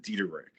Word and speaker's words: Diederich: per se you know we pronounce it deck okay like the American name that um the American way uh the pronouncing yeah yeah okay yeah yeah